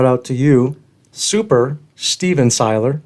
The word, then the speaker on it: Cihlar: ladies and gentlemen the one and only rich seiler makes i pronounce that correctly you are 100 did andrew